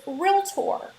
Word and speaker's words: realtor: side trip right here please make sure you're pronouncing it with two syllables not three just two so it's realtor you probably hear a